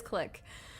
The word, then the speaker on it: clique: Okay, it is click. But like, look at how it's spelled.